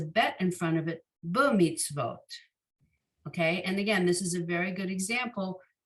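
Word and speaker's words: במצוות: short b, and then the tzadi in the middle of the word, it's a silent shva, but that silent shva tells you that's It's ending the syllable, and that vav is going to be a vo.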